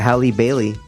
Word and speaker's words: Halle Bailey: Bailey is the new Little Mermaid you were mispronouncing Halle Berry no it's a Halle Bailey that's her name Holly she's in like some